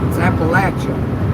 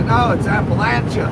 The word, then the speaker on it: Appalachia: It's Appalachia. I hear people mispronounce it. They call it like Appalachia or something. Appalachia. Uh, no, it's Appalachia.